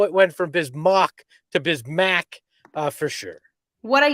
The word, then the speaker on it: Bismack: at the very beginning the pronunciation guide clearly said bismarck biamo and now it is updated to bismack but nobody i mean